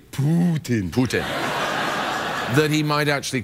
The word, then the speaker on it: Putin: I like to say Putin.